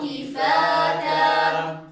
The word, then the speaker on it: كفاتا: كفاتا ألم نجعل الأرض كفاتا تنبهوا أيها الأحبة إلى التاء المتحركة هنا كفاتا التاء هنا متحركة ولكن أسمع من بعض الطلبة أنه ينطقها مجردة من الهمس وهذا خلل لأن الدال والتاء يشتركان في